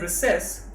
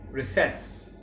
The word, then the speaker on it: recess: Over here the word recess has 2 pronunciations. If you are in Britain, you will say recess. But if you are in America, you can say recess.